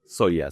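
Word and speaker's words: Zoja: El psicanalista italiano Luigi Sopia, ¿no? Soya. Sí. Ah, pronuncia soyas.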